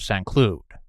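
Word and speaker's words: Saint-Cloud: central Paris at the Royal Palace of Slude. It spelled like St. Cloud.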